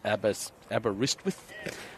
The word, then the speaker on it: Aberystwyth: It's Aberystwyth.